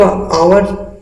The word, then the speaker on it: hour: लेकिन आवर का अगर आप हिंदी उच्चारण करते हैं तो आ आता है आपका पहले, और आ आपको वोवेल होता है हिंदी में भी, इसलिए